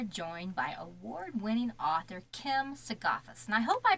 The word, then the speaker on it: Sigafus: completely science silence on that no it's it's suus okay suus got you all right I'm going